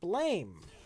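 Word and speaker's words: Blame!: I want to recommend blame pronounced blam on Netflix the mindblowing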